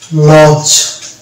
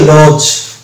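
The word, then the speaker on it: lodge: লিখলাম যেমন এল ও ডিজি ইটা হচ্ছে এটার উচ্চারণ হচ্ছে লজ এই যে লজ এখানে দেখতে পাচ্ছি এ এর উচ্চারণ আসলো পরে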